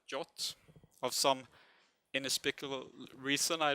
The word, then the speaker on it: JWT: It's actually called JOT, JWT. That's how you pronounce it, JOT, of some inexplicable reason, I don't know.